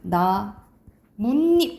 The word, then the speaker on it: 나뭇잎: 나뭇잎 이렇게 발음 나잖아, 그치? 그래서 나무 플러스 잎인데 나뭇잎 니은이 덧난단 말이지, 그치?